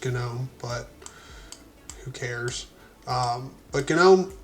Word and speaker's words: GNOME: It's just, I've never been one that's had a problem with GNOME, And yes, it's not like Garden Gnome. It's supposed to be pronounced GNOME, but who cares?